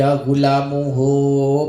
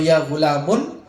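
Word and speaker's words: يا غلامُ: Rofa tanpa al tanpa tanwin, maka bacanya ya gulamu. Gitu. Boleh enggak ya gulamu? Tidak boleh. Atau ya gulamun? Tidak boleh. Ya gulami? Tidak boleh.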